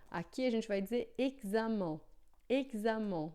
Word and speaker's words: examen: Em francês, não, é sempre som de xi. Então, ó, aqui a gente vai dizer examen, examen.